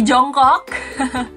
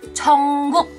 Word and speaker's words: Jungkook: Bukan Jungkook, apalagi Jongkok. Di sini mana lagi ARMY suaranya? Jangan salah mengucapkan nama bias kamu ya. Yang benar ucapannya adalah Jungkook.